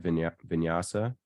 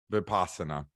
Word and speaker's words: Vipassana: Vinyasa? Vipassana. Vinyasa is a Vipassana. yoga term, like a vinyasa flow, but Vipassana, yeah.